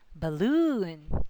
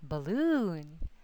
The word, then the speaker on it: balloon: So the suffix OON always has the accent on it. So that's going to be balloon, balloon, cartoon, cartoon.